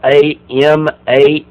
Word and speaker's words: amanuensis: basically a secretary, but the word is amanuensis. That's spelled A-M-A-N-U-E-N-S-I-S. So amanuensis.